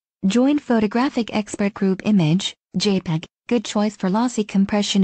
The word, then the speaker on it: JPEG: i.e opera and safari the jpeg typically pronounced jpeg image format is currently